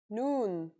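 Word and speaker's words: نون: The noon is pronounced just like the English N.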